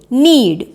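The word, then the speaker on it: knead: एन ई ए डी नीड इसमें भी के का साउंड क साउंड साइलेंट होता है एन डबल ई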